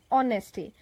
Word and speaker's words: honesty: is true fullness or honesty please pay attention it is not harness T it is honesty it is silent okay for example oh